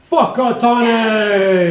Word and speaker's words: Whakatane: And you gotta say it know? like that. Whakatane! Whakatane, the east coast. And that's not a swear word, that's how you pronounce it. Yeah, yeah. And that's the Maori pronunciation.